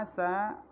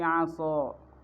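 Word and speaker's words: عسى: Asa pada kata asa yang seharusnya dibacanya Asa menjadi Aso dan maknanya berubah karena perubahan daripada huruf Ini tadinya Asa menjadi asho hurufnya Sin berubah menjadi Shad artinya Asa semoga kemudian berubah menjadi aso bermakna maksiat bermaksiat Danti a contoh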